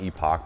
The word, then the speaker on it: Epoch: The former is a $400 105 amp hour battery from Epic, which looks like it's pronounced Epoch, but I think they pronounce it Epic.